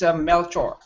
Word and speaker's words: Melchor: It's somebody already because I have a lot of friends from here in England that pronounce as my name was Melkor, but originally it's Melchor.